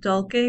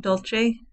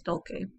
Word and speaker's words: Dulce: and i pronounce it dolce because it's a latin phrase and they have a heart c in latin some people pronounce it dolce using the italian pronunciation but the correct one is dolce okay now just a